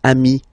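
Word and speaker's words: amis: here okay but then technically you pronounce it the same way so singular form Ami plal form you add this s but it's Ami as well okay in that case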